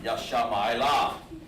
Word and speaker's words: Ishmael: When you heard the in the old days, if they said Ishmael, they pronounced him Yashama'ila. That's how it sounded, okay?